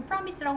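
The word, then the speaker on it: premise: promise 하면 전제라는 뜻이야 프라미스 애 프리마이스가 아니고 프라미스라고 발음하고 그 전제는 뭐냐면 actual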